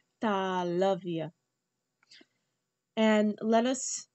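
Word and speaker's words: तालव्य: And that is the English pronunciation, talavya.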